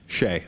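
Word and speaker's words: Hsieh: over to Tony uh how do you pronounce his last name Shea Shea because I always say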